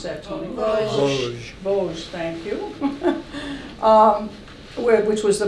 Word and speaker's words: Vosges: He went to Bossard. How do you pronounce that, Toni? Vosges, thank you.